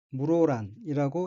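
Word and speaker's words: 室蘭: 호수 호토야코가 있는 이브리지역입니다 오른쪽 위의 한자는 한국어로 실란이고 각기 집실자와 난초란 자로 되어 있으며 각각 일본어로는 실은 혼독이 무로라는 음독이 란입니다이 둘을 합하여 물오란이라고 있습니다 오른쪽 아래의 한자는 한국어로는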